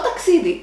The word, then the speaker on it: ταξίδι: Το κλειδί, which means the key, and το ταξίδι, which means the journey. Το κλειδί has the accent at the last syllable, and το ταξίδι has the accent at the second syllable from the end.